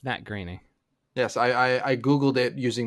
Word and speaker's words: Groening: Oh, Groening. Yeah. Here. I'm gonna link you it. Happy Thanksgiving. Fuck you. Happy Matt Groening. Yeah, there you go. That's how you pronounce Matt Groening.